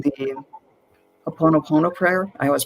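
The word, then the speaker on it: Hoʻoponopono: But what came to me is if you start saying the Ho'oponopono prayer, I always pronounce that wrong, but you know what I mean. What is it? Please. Oh no. Ho'oponopono.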